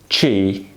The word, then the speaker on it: ci: B and this one it is not English C it is chi Chi by the way